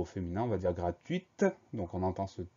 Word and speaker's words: gratuite: Au féminin, on va ajouter le E du féminin, donc cette fois-ci, on va entendre le T final. On va prononcer gratuite.